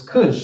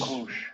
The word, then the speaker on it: Cush: Kush. So it's Cush, Kush. right? Or Kush, whatever you want to call it.